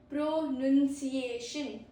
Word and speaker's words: pronunciation: The pro tip is not pronunciation. No, we don't say pronunciation, we say pronunciation. Pronunciation. Easy, not noun, it's N-U-N, okay? None.